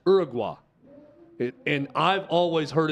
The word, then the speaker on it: Uruguay: see the stories at out kick with the Uruguay team going nuts on the officials at the World Cup um I people that know how to pronounce South American countries tell me that it's Uruguay it and I've always heard it as Uruguay